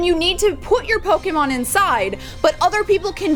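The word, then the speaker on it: Pokémon: I feel like I'm saying Pokemon and Pokéstops like People who say Pokemon, which is actually the correct way to say it, kind of make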